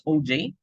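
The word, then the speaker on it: Auger: oh uh OG no this is pronounced as OJ the combination so imagine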